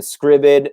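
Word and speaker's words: Scribd: footage uh that i grab off youtube and scribbid i don't know if you've heard of scribben uh sam it's it's spelled s-c-r-i-b-d dot com and you basically can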